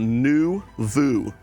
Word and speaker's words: Noovo: brand new company called new Vu they had to teach me how to say it cuz it's called new in French it means like new